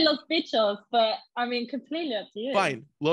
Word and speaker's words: Los Bitchos: I was like, Los Bitchos, and then people have said Los Bitchos, and I was like, I don't think that it's the way you say it, you know? Oh, we say Los Bitchos, but I mean, completely up to you.